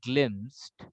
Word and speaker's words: glimpsed: When you use this word glimpsed, your end sound लिखोगे आप D, लेकिन आपका जो pronunciation होगा, that will be T.